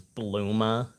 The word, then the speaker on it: Bulma: translate more probably as bluma her name is supposed to be like Bloomers like the underwear but they how they